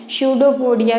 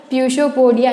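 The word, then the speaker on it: pseudopodia: शूडोपोडिया की हिंदी होती है कूटपाद, और शूडोपोडिया में जो आप इसकी स्पेलिंग लिखते हो उसमें जो पी रहता है वो साइलेंट रहता है, उसको हम नहीं पढ़ते हैं। अगर ऐसे पढ़ते तो हो जाता प्यूशोपोडिया, नहीं, बट यहाँ पे पी क्या रहता है, साइलेंट रहता है। इसको हम इंग्लिश में पढ़ते हैं शूडोपोडिया, जिसका हिंदी में मीन्स होता है कूटपाद।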